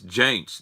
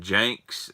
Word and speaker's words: Jaints: It's Jaints, Jaints. I know some guys have been commenting Janks and Jaunts. Jaints is spelled Jaints.